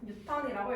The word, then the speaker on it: 뉴턴: 대한 법칙을 발견한 과학자 유턴 유턴 뉴턴이라고 읽어요 그 다음에 오늘 할